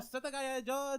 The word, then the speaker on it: Setagaya: No, say it like they would say it. Oh, Setagaya, Tokyo, Japan.